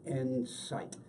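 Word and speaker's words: Ensyt: And by the way, Insight is spelled E-N-S-Y-T, Insight.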